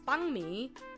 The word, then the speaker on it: banh mi: So I was like, oh, I want banh mi, and I thought it was cute because the name is bun mi, but it's banh mi for the sandwiches, the Vietnamese sandwiches.